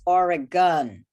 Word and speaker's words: Oregon: yeah that's a great song and the correct pronunciation is oregon it doesn't rhyme with anything it's a problem